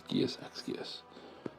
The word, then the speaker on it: Geas X Geas: Geas X Geas. Or maybe it's like Hunter Hunter, where you don't actually say the X. Geas Geas. No, we'll pronounce it as Geas X Geas.